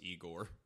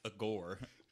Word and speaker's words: Igor: monster looking oh that's igor igor all you need is young frankenstein it's awesome it's a gore we're putting emphasis on the wrong syllable uh you know i